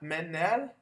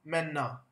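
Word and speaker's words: Männer: همون طوری که می‌بینید ا ر در آخر کلمه در زبان آلمانی ار تلفظ نمیشه و بیشتر آ تلفظ میشه پس نه منر بیشتر تلفظ بکنید بکنید بکنید منا گروه دیگه از کلمات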